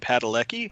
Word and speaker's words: Padalecki: And I'll say Jared Padalecki. Is that how you pronounce his last name?